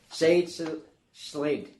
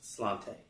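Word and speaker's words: Sláinte: All right, next item is 444, and I should know my Gaelic pronunciation, but Sade Slate. No, Slante.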